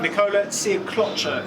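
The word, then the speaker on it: Nikola Sjekloća: Nikola Siaklocha is how his name's pronounced.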